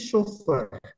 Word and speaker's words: chauffeur: and there we say that the word the pronunciation is chauffeur yes sir okay and there is a single